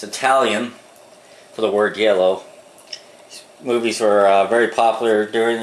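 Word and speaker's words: giallo: I believe it's called yellow is how they pronounce it g i a l l o it's Italian for the word yellow movies were very popular during the 70s uh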